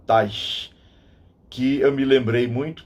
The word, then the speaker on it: Teich: Ele é descendente de alemão, então a pronúncia é essa mesma, Teich, que eu me lembrei